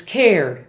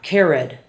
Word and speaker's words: cared: Spanish speakers often make this a separate syllable. So, for example, our words care, the past tense is cared, not cared.